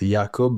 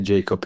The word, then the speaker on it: Jakub: uh Jacob yakob yakob what's what's the correct pronunciation so the correct is yakob but you can say Jacob if you want to I'm gonna say yakob